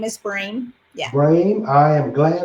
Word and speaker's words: Brehm: It's pronounced Brame, like it rhymes with name. Her name is Brame.